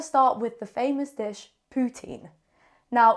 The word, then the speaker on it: poutine: it's not pronounced pan I was taught in French that if it's I ne E ending you say uh putan is a very rude word I don't think I should even be saying it do not say that it is poutin so also Canadian French